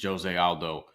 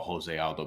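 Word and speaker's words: José Aldo: Yeah, so this is an interesting fight because Jose Aldo, who I almost always call Jose Aldo because I'm Puerto Rican, and in Portuguese you pronounce things differently.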